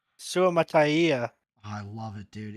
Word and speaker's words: Suamataia: Suamataia out of BYU. Nice. Beg your So pardon? they get their tackle. Dude, once I learned how to say his name, I love that last name. Suamataia. Suamataia.